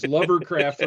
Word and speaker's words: Lovercraft: Which is clearly Cutter, because Lovercraft rhymes with hovercraft.